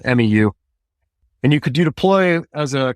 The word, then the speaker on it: MEU: That's Marine Expeditionary Unit, but most guys pronounce it MEU, MEU.